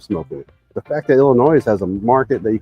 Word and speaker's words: Illinois: We don't pronounce the s on Illinois and it's peing, not pecking.